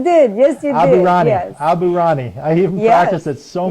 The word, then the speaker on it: Aburaneh: get your name right didn't I when I pronounced your name yes you did yes you did abani Abu Rani I even practiced it so many times before